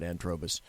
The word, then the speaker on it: Antrobus: got to do antrobus I pronounce it antrobus a ant r o Buu s a n t r o b us s.